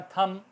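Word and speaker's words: thumb: इसी तरह थम, हमारा अंगूठा, THUM, बी, थम, बी साइलेंट रहेगा।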